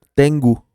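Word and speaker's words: 天狗: exactamente así tiango eh Y es tengu en japonés se pronuncia tengu y tiene un significado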